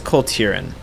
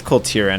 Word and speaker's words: Kul Tiran: Is it I think it's Kul Tiran.